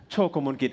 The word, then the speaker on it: Chokkamolkij: And I'm Chokkamolkij. For those of you who might have problem pronouncing Thai last name, as in Tintin, the cartoon character. Chokkamolkij as in choke a monkey, so you can remember my name from now.